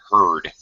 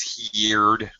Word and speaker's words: heard: a her her hairstyle heard just with the D on the end all right where where